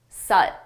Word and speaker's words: soot: Suit Soot. Notice the spelling does not match the pronunciation suit suit suit suit soot but it's that schwa sound uh soot.